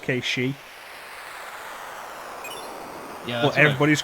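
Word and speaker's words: Cait Sith: and Demon Gate with Kate Sith. Yeah, Scottish because of folklore. It's actually pronounced Kate-She.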